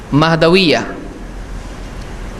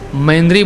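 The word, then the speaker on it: महदविया: नहीं एक फिरका है महद विया बहुत सारे लोग गलत इसको महेंद्री बोलते हैं अब स्पेलिंग मिस्टेक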